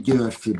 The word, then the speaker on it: Gyorfi: It's actually Gyorfi, but it's really hard to pronounce.